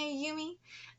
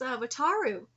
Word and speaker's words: Wataru: He got mad at me too, getting red in the face and going, "Don't call me Ayumi. My name isn't Ayumi. It's a different kanji and is pronounced Wataru."